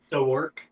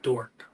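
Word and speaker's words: Dorck: spelled D o r c k two o's dor yeah is it pronounced dor or is it pronounced dork listen it's pronounced dor okay all right well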